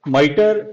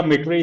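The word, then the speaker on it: MITRE: अच्छा, इसके लिए एक तो माइटर या मिटरे, इसकी दो प्रोनाउंसिएशंस चल रही होती है।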